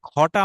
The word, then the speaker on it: খ: তাই এটা উচ্চারণ হবে মহাপ্রাণের মতো খা।